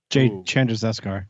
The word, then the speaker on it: Chandrasekhar: sense because the director of the film, Jay Chandrasekhar. Thank you. I would have You're not welcome.